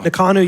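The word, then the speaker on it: Ngakanu: Nakanu, you'll notice, spelled NG, N-G-A-K-A-N-U, and that NG sound is the same as the sound at the end of the word jumping. It's slightly different than the common English language N sound.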